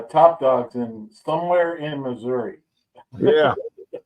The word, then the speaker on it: Missouri: dogs in somewhere in Missouri yeah it's pronounced misery I know yeah I